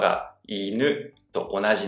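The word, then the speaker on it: 犬: iNU is the same low-high pattern.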